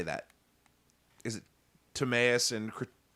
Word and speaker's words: Timaeus: Is it Timaeus and Critias?